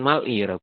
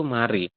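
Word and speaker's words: 말이: Tetapi bacanya bukan mal'i, tapi dibacanya adalah mati. Seperti ini. Ya, jadi bacanya itu mari.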